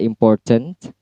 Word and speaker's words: important: Misal kita lihat dalam syllable, 3 syllable di sana ada kata important, yang distress atau ditekan adalah syllable poor. Berarti cara bacanya im-nya rendah, tone-nya, kemudian pour-nya tinggi, cent-nya rendah.